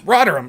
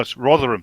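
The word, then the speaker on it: Rotherham: didn't say a peep rodam right I I had to I had to no rotheram not rodum oh well [ __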